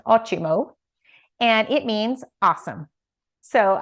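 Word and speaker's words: ótimo: and ochimo which is spelled o-t-i-m-o but it's pronounced ochimo and it means awesome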